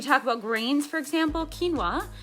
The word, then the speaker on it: quinoa: about grains for example quinoa q-u-i-n-o-a quinoa um most people pronounce that wrong it's kind of fun